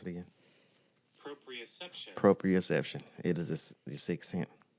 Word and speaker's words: proprioception: How you pronounce it again? Proprioception.